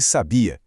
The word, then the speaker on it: sabia: Se a força está na penúltima sílaba, sem acento gráfico, a gente tem o verbo ele sabia.